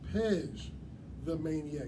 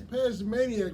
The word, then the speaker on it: Pej the Maniac: get it correct because I've been saying it wrong all day long. It is Pej the Maniac. I don't know why I've been putting the D in your shit, but it's Pej the Maniac, ladies and gentlemen.